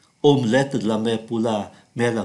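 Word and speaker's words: omelette: De La Pa omlet chúng ta không phát âm cái T ơ này omlet omlet La Mer pula me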